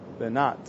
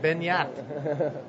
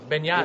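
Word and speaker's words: Beñat: We're totally saying it wrong, I think. Yeah. We need a French accent when we say his name. I believe he is from France. No, he is... no, he's from Spain. Oh, so we need a Spanish accent. Yeah. Benyat.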